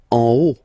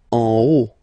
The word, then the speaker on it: en haut: En haut. En haut. Okay, final T not pronounced, and then this H as previously, you don't pronounce it, so this is O.